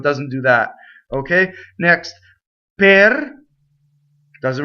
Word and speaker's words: per: Per. Doesn't rhyme with the per, right? Doesn't rhyme with the fruit pear.